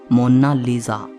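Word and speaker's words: Monna Lisa: कोई इसे मोनालिसा कहता है तो कोई मोनालिसा कहता है, लेकिन इटालियन में इसकी करेक्ट प्रोनाउंसिएशन है मोनालिसा। इसका मतलब होता है माई लेडी।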